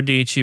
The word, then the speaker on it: Dici: Sarah Dici rhymes with peachy.